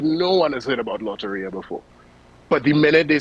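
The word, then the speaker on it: Lotería: Well, I thought, but I think even if people never heard of, just correct me on the pronunciation. It's Loteria, right? Loteria, yes.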